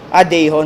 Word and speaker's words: Dahon: Ano ba tamang bigkas dyan? Dayhon? Dahon? Dayhon. So, para siyang may accent na Dayhon.